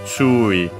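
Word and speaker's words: 注意: One of those accented on the first syllable.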